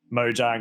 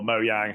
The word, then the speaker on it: Mojang: from ninja theory like mojang or mo yang however you want to pronounce it um they would appear